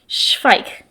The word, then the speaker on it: Zweig: let me know that it is a German word, and it's Zweig. And I might have butchered that, but I think I got it right. They said pike, but with an S.